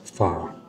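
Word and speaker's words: phở: good we got lettuce like diced onions Vietnamese food is very clean very you know few ingredients let's try the beef fa it's spelled pH H but it's pronounced fa I don't understand why F but I would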